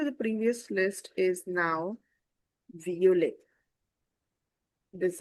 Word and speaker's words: violet: The addition to the previous list is now violet This is violet because E T at the end gives you the A sound.